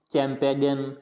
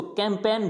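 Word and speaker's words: campaign: ज़्यादा गड़बड़ी कहते हैं, इसको क्या बोलेंगे, चैम्पेगन, कैम्पेगन, ऐसे नहीं बोलना, इसको कैंपेन बोलना है। क्या बोलना है, कैंपेन, यानी यहाँ पे जी क्या है, साइलेंट है, कैंपेन।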